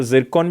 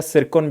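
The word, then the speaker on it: Zircon: तो जिरकॉन भी कह सकते हो इसको, क्योंकि टी साइलेंट है तो जायरकॉन या सिरकॉन भी आप इसको कह सकते हो।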